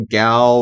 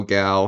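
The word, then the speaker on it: Gough: Alfred like Michael Michael gal or I think it's pronounced gal he's really good as Al in these movies go I don't go May what whatever Michael go gal however you pronounce it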